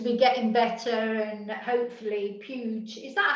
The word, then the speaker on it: Puig: it seems to be getting better, and hopefully Puge, is that how we pronounce it? Puge. People quite often say to me, how do you pronounce his name? And I say Puge, but it's Valencian, you know. Puig.